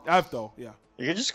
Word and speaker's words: Avdol: Avdol, yeah.